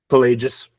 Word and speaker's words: Pelagius: You say you talk about Augustine and um is it Pelagius? Pelagius. Pelagius. Okay, I butchered that.